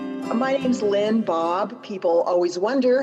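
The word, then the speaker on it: Baab: my name's lynn bob people always wonder how to pronounce my last name but it rhymes with saab cars so that's a good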